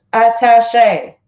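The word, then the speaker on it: attaché: support from a key military official Venezuela's defense attache to Washington colonel joseluis Silva told Reuters that he has broken with the Maduro government and recognized dueño is entering president voiceover it is pronounced attache okay okay speaking at the UN meeting called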